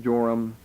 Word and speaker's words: Joram: jehoram and uh Zion but here in Matthew in the Greek form of the Hebrew words they're pronounced joram and ozias okay then look down at verse 8.